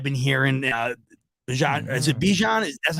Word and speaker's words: Bijan: a sudden I've been hearing uh is it Bijan that's how you pronounce it yeah yeah excuse me yeah his